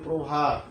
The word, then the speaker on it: প্রভাত: এরপরে তুমি দেখো প্রভাত, কিন্তু উচ্চারণটা হবে প্রভাত।